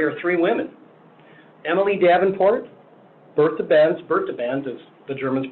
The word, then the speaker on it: Bertha Benz: Emily Davenport, Bertha Benz, as the Germans pronounce it, and Clara Ford.